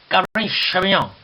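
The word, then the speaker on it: Cabernet Sauvignon: 자, 원래 이 발음은 이런 식으로 하면 안 됩니다. 어떤 식으로 하느냐? 잘 듣고 한번 따라해 보세요. 까베르네 쇼비뇽. 까베르네 쇼비뇽.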